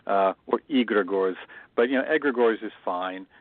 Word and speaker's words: egregore: Well, we just go with egregores because that's the easiest, but it is Greek, so it should be more like egregore or egregores.